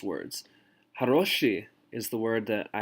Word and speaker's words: хороший: Haroshi is the word that I have written right here. And you notice that I have the O bolded because the stress of the word is on haroshi.